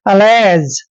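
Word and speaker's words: allege: ए का उच्चारण दोस्तों हम यहाँ पर ए करेंगे, डबल एल को हम ले लिखेंगे, और ई को ए की मात्रा पढ़ते हैं, और जी का उच्चारण जय करते हैं। अलेज, अलेज होता है दोस्तों आरोप, यानी कि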